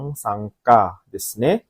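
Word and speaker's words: 参加: Kanji nomor 5 ini ya dibaca adalah pilihan kedua yaitu sangka hai.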